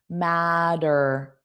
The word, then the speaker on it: matter: Well, you have T's between two vowel sounds, so it will sound like soft D's. Matter.